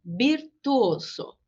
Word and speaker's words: virtuoso: O som do V é o som do B, de bola. Então, virtuoso.